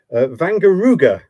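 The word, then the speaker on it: Wangerooge: flag of uh let me just get the pronunciation right again this is vanar ruga It's a German Island would you believe um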